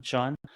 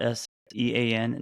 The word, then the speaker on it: Shaun: Hey, just want to let you know, Shaun is spelled Shaun, like kind of like a leprechaun, Shaun, not Sean, not Shawn, and I am John with an H, John not with an Jon.